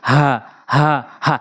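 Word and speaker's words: هاء: এটা হা বলতে হবে হলকের শুরু থেকে একদম নর্মালি হা হা হা।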